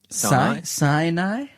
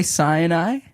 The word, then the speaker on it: Sinai: Hey, is that usually how you pronounce that word? Sinai. Yeah, that's how I always say it. That's That's how I say it, too. And I'm not American. You say cyani.